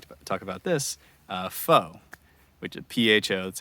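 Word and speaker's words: phở: to pronounce it is fo pronounced the same way as f-a-u-x and there's a few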